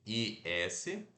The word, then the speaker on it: is: conjugado como is it se escreve i s mas se pronuncia assim ó o i fechado e aquele que a gente não sorri e o ié mais curto é e o som dizer não é não é um s isso aqui eu sei que se escreve com s mas se pronuncia com som de z Então a gente vai